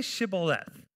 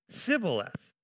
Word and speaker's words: Shibboleth: If he said no, then they would say to him, "Then say Shibboleth." And he would say, "Sibboleth," for he could not pronounce it right.